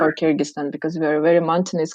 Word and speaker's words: Kyrgyzstan: what is kyrgyzstan so because we pronounce it in a various ways like kyrgyzstan or kyrgyzstan or kyrgyzstan um if we if we pronounce it in our language it would be kyrgyzstan so yeah basically it's